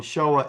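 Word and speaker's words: Shoah: So, if you go to Survivors of the Showa, and Showa is spelled S H O A H, let me write that in here.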